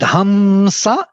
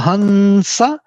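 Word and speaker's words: haṃsa: dot on the top, So that hamsa or hansa is totally proper pronunciation. You don't need to be hamsa. It's not m. It's actually nasal sound associated with s, dental n.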